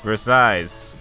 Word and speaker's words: Versailles: Why is there two L's if you don't... Why write two L's if you don't say them? I can explain that very simply. In France, you pronounce half the syllables.